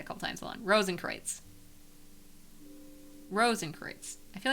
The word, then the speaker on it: Rosenkreutz: Rosenkreutz is pronounced Rosenkreutz. Rosenkreutz? Rosenkreutz. Because German is a very silly language.